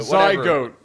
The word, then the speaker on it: zygote: that's Yeah, he didn't say No, he said Zygote. See, he pronounced it goat. So it's not go t is go a t. All right. It's going to be zygote. Zy goat.